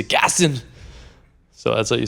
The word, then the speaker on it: Gaston: Gaston.